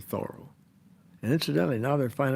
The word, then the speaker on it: Thoreau: you know influenced by henry david thoreau that's the way he pronounced it thorough and incidentally now they